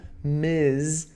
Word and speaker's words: Ms: é casada, você usa Ms com MS ponto, tá bom? Lembre-se, pronúncia MS ponto é Ms, com som de Z.